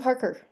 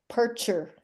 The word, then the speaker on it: Parcher: Parker, Parcher. I said it wrong 2 ways.